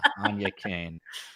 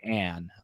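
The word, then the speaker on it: Áine Cain: I mispronounced Anya Kane. Yes, and I'm not even gonna. Yeah, Anya Kane. I called her Anne, and I got screamed it's at. It's tough to pronounce. It is an Irish the spelling with the spelling.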